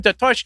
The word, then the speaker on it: Tatush: It was like, but it sounds like if you say my last name, Tatush, it almost sounds like it does need a ski, like Tatushki.